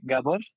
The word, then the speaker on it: Gabor: It's actually Gabor. It's a Hungarian name.